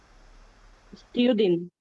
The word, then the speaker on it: student: Student. Student. You see, you don't pronounce the T.